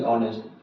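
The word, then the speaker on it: honest: यहाँ पे ऑनेस्ट लिखा हुआ था, देख रहे हैं, यहाँ पे ध्यान देंगे, एच ओ एन ई एस टी, ऑनेस्ट, यहाँ पे क्या लगेगा, औ है तो क्या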